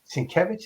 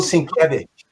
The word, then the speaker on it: Sienkiewicz: His name is Sienkiewicz. That's how you say it? Bill Sienkiewicz.